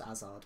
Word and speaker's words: Hazard: I know you don't say his name Hazard, by the way. I know it's Hazard, but I'm going to keep calling him Hazard.